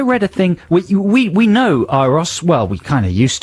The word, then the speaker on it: Euros: on the weekend, and it said, in brackets, pronounced Iros. E-Y-E-R-O-S. Iros. So I've been thinking, right, good, that's the definitive answer. I'll pronounce it Iros.